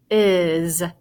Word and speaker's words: is: The S, though, this time in this word, it sounds like a Z. So it's is.